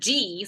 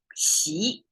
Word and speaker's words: Xi: the Western World president G somebody pronounced his name that President G pleasure z uh well but it's she is the Chinese way she is hard to